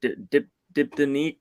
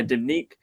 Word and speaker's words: Diptyque: So to answer that question for me, I guess I have to say probably I don't know how to pronounce it, but Diptyque or Diptyque. Yeah, Diptyque.